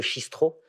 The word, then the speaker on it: Cistro: Oui, bah, c'est même écrit dans le nom, parce qu'on devrait prononcer le chistro, parce que chistre en breton, ça veut dire cidre, et puis le OT du bistrot.